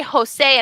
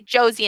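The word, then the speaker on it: José: can you say odell the j in spanish is called hota it makes the sound like in english h so that's why we say jose and jalapenos we don't say josie and jalapenos everybody say jalapenos jalapenos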